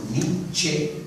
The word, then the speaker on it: Nietzsche: Y al contrario del inglés o del francés, en alemán se pronuncian las vocales finales, por ejemplo la E. Entonces el apellido es de Fichte, o también por ejemplo Nietzsche, se pronuncia esa E final.